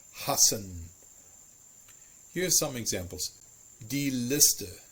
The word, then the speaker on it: hassen: Double S, no matter where it is always a sharp S as well. It's always a sharp S. An example would be hassen.